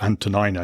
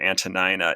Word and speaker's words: Antonina: The Greek is Antonina. The middle part of her name is nu iota nu, or as we would say nin if we Englishized the words.